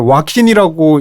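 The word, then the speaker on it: Joaquin: J로 시작하는 근데 스페인어에서는 J는 H 발음이 나기 때문에 호아킨이 맞는 것 같은데 근데 뭐 이름은 지은 사람이 자기 부르는 게 맞으니까 와킨이라고 한다고 답이 돼 있더라고요.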